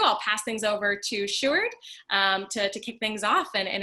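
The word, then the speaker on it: Sjoerd: screen for you guys a shoe art not as jord or anything like that it's always a good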